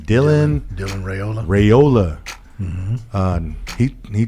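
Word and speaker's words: Raiola: how do you say his name Dylan Dylan rayola rayola MH um he he changed his mind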